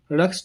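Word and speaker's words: Rhus: रास toxicodendron रस्स toxicodendron बातचीत। हम ये रहा रस्स, यहाँ 'H' है साइलेंट, एके हम रस हैं।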